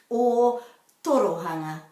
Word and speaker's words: Ōtorohanga: because it's so new to do this correctly or torohanga thank you teresa again and enjoy trying to pronounce kiara